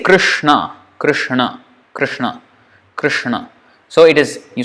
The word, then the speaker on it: Krishna: But anyway, you can see how to pronounce it. And when we say Krishna, Krishna.